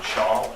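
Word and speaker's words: Schall: To my right is John Shaw, S-C-H-A-L-L.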